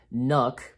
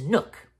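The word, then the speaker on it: Knuck: so my name is nook so i think it's pronounced nook yeah nook and even martin uh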